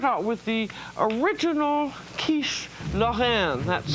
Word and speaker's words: Lorraine: And we're going to start out with the original quiche Lorraine. That's spelled L for lollipop, O-double-R. Julia was over 50. And it's pronounced in the French manner.